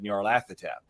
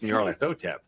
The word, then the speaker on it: Nyarlathotep: There's just a question of whether or not the Y is pronounced as a vowel or a consonant, depending on which version of the Necronomicon you are using.